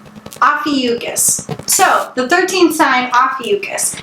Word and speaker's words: Ophiuchus: source I found and we're gonna go with the pronunciation Ophiuchus so the 13th sign-off